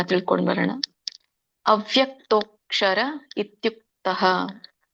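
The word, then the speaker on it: ಅವ್ಯಕ್ತೋಽಕ್ಷರ: ತಿಳ್ಕೊಂಡು ಬರೋಣ ಅವ್ಯಕ್ತೋಕ್ಷರ ಇತ್ಯುಕ್ತಹ ಅವ್ಯಕ್ತೋಕ್ಷರ ಇಲ್ನೋಡಿ ತೋ ಆದಮೇಲೆ ಮತ್ತೆ ಅವಗ್ರಹ ಇದೆ ಅವಗ್ರಹ ಯಾವಾಗಲೂ ಇದ್ದಾಗ ಕೂಡ ನಾವು ಅನ್ನೋ ಅಕ್ಷರವನ್ನ ಬಳಸಬೇಕು ಅಂತ ಹೇಳಿದೀನಿ ಸೋ ಇದನ್ನ ಬಿಡಿಸಿದಾಗ ಅವ್ಯಕ್ತಹ ಅಕ್ಷರಹ ಅಂತ ಹೇಳ್ತಾರೆ ಕೂಡಿಸಿದಾಗ ಅವ್ಯಕ್ತೋಕ್ಷರ ಅಂತ ಆಗುತ್ತೆ ಸೋ ರಾಗ ಬದ್ಧವಾಗಿ ನಾವು ಹಾಡಬೇಕಾದ್ರೆ ಅವ್ಯಕ್ತಕ್ಷರ ಅಂತಾನೆ ಹೇಳಬೇಕಾಗುತ್ತೆ ಸೋ ಸಪೋಸ್ ಯಾರಿಗೆ ಅದನ್ನ ಉಚ್ಚಾರಣೆ ಮಾಡಲಿಕ್ಕೆ ಬರೋದಿಲ್ವೋ ನೀವು ಅವ್ಯಕ್ತ ಅಕ್ಷರಹ ಅಂತ ಹೇಳಬಹುದು ಅವ್ಯಕ್ತ ಯಾವಾಗಲೂ ಮಧ್ಯದಲ್ಲಿ ಎಂಟು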